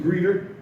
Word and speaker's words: Geeter: Geeter, they can't pronounce my name. It's Geeter, Geeter, not Greeter, not Geeter, not Greeter, not Kaiser, it's Geeter.